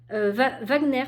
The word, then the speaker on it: Wagner: est de George Wagner Wagner pardon excusez-moi George Wagner je suis mal prononcée en plus c'est allemand normalement comme nous donc George Wagner